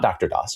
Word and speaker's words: DR-DOS: the pre-Windows 95 era, that being DR-DOS, not Dr. DOS, it's pronounced DR-DOS, from Digital Research, the